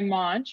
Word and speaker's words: Moench: My name's Skye Moench. My last name rhymes with launch.